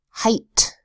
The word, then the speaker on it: height: so says next word height usually e IG H makes a long a sound except height what makes a long I sound I height then usually the double